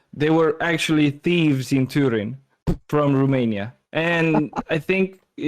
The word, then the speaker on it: Turin: Torino. Yeah, it's Torino. I know, but I don't think it's pronounced like this Yeah, I in, think it's in Turin.